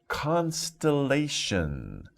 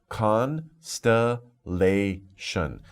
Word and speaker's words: constellation: okay next we have constellation that's a little difficult pronunciation right con sta lei shun so four syllables constellation constellation is a